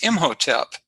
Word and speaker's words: Imhotep: it in hieroglyphics but how it's been pronounced uh traditionally is imhotep and he is more